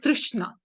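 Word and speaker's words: तृष्णा: world this is that craving or trishna it's pronounced says trishna it's a kind of a thirst a craving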